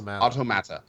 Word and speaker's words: Automata: The way that I've heard to say it is say the word auto and say the word mata. So, and if you say it's automata.